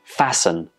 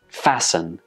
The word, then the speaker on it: fasten: sound and here are some more examples we have fasten fasten hasten hasten and christen there is no touch sound in any of these words when we pronounce